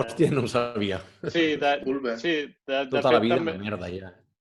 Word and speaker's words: Ulver: No et pronuncia la R? No, ho he buscat, ho he buscat. Oh, hòstia, no ho sabia. Sí, Ulver.